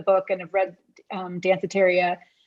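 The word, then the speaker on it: Danceteria: and have read um dancitaria i always have to make sure i pronounce that right cafeteria dantheteria that's how i was saying it at first too but no but but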